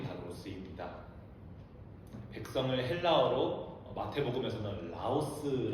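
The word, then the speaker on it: λαός: 쓰입니다 백성을 헬라어로 마태복음에서는 라오스 아고 발음되는 이렇게 헬라 강도 쓰였는데이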